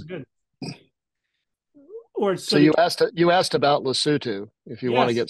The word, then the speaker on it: Lesotho: That's how you pronounce it, Lesotho?